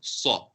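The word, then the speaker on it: ص: The Sod is written more with a circular shape, so you make your mouth more rounded. Saw.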